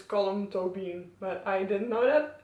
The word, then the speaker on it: Colm Tóibín: Yeah, you pronounce it as Colm Tóibín, but I didn't know that.